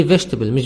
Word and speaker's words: vegetable: interesting channel vegetable say vegetables vegetables no vegetable eat silent vegetable i like eating vegetables